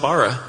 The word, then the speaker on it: Borough: Yeah, been saying borough like dumb Americans. And our lighting guy last night said, fellas, come over here. And he said it with a great accent, but I'm not going to try and do it. He pulled Chuck's beard. He has a great beard, too. So we rub beards together. And it's spelled Bara.